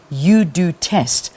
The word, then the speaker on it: UDoTest: who created the HPV UDoTest. And let's say a very good morning to her. Welcome to the program. Good morning. Thank you very much. I am saying it right. UDoTest. Yes, okay. UDoTest.